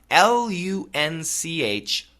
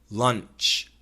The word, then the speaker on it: lunch: L-U-N-C-H, lunch, lunch, lunch.